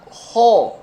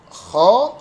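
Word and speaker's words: خ: Nah, kha dan gha ini bukan ho atau gho, tetapi kha, gha.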